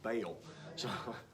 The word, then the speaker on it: Baal: gods bale i've heard i've recently heard people pronouncing it ball the whole time i was growing up here in oklahoma it was baal i don't know yes